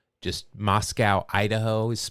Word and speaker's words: Moscow: I'm assuming that's pronounced Moscow and not Moscow. Just Moscow, Idaho is pronounced that way.